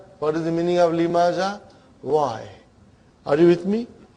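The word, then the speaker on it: لِمَ: So ha will come as a silent, lima. You are not pronouncing it because there is a sukoon on it.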